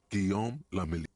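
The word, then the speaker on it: Guillaume Le Million: Guillaume Lamilly. If it doesn't rhyme, you're not pronouncing it right.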